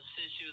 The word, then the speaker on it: Sisu: And again, it's hard to pronounce. Yeah, it's Sisu the dragon.